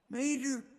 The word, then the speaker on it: Mater: Mater, what are you doing in here? Mater, what are you doing in here? And here too, dropping the drop T or the silent T makes your pronunciation much better.